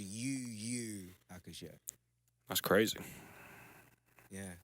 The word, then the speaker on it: Yu Yu Hakusho: Yeah, but it's pronounced UU Hakusho.